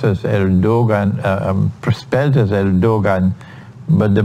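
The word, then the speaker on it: Erdoğan: uh uh his name is erdogan it's pronounced as erdogan prospectus el dogan but the pronunciation pronunciation is erdogan the prime the president of of turkey um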